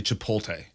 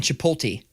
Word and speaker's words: Chipotle: with a guy who never could pronounce that correctly it is not hard he keeps saying to pull T and he just regular ass dude regular guy but always would say to pull T and it started when